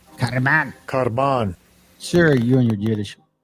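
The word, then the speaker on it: κορβᾶν: This is how they pronounce it. Strong's G 2878. Karban. Karban.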